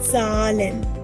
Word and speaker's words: Zahlen: Die Zahlen. Die Zahlen. Remember, the Z has to be pronounced with a T, remember?